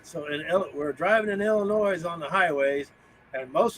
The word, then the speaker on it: Illinois: so we're driving in Illinois on the highways and most of their highways are concrete time out time out time I'm from the Midwest Bell the S is silent Illinois another noise then nature highways out